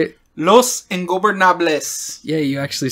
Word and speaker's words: Los Ingobernables: Los Ingobernables.